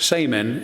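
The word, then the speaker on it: šaman: The word shaman actually has its roots in the Tungus language of Siberia, where it's pronounced saman and means those who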